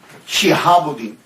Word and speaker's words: شہاب الدین: نام عمر ہے، لیکن شہاب الدین، شین کے نیچے زیر، شہاب الدین، شہاب الحق